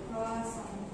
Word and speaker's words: croissant: Kroa dibaca S, kemudian A N T dibaca Ong. Oke, berarti dibacanya Croissant.